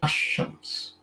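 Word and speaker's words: الشمس: Like with Shams, you say Ash-Shams.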